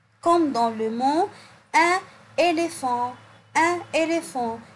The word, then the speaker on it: éléphant: Par exemple, comme dans le mot un éléphant. Un éléphant. Ici, le PH se prononce F. F. Un éléphant.